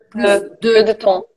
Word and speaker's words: plus de temps: Plus de temps. É, plus de temps. E aí pronuncia o S do plus por causa do de, tá?